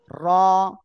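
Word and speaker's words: ر: মাশাআল্লাহ, র। জিহ্বার আগার পিঠ, তারপর আবার উপরে তালুর সঙ্গে লাগিয়ে উচ্চারণ হবে এটা।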